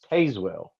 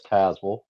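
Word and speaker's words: Tazewell: Um and G according to GPS it's Tazwell. H but really how it's spelled it should be pronounced Tazwell. But down here we're like no that's Tazwell.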